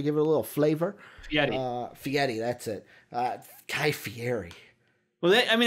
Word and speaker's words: Fieri: Tried something new, Guy Fieri, trying to flavor town it, trying to give it a little flavor. Fieri, that's it.